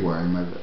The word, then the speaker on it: Weimar: la Repubblica di Weimar, la pronuncia giusta è Weimar, i motivi della crisi economica che portarono a questa condizione e infine il vero e proprio, la fine della Repubblica di Weimar e l'avvento del nazismo,